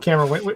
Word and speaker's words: Camara: How does he pronounce his name? Neil Camara or Camera? Is it? Okay. Yeah, he said Camera.